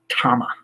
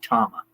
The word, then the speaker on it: Tama: And he said Tama. So it is very Japanese pronunciation, but I certainly hold that to be the authentic pronunciation. So I say Tama.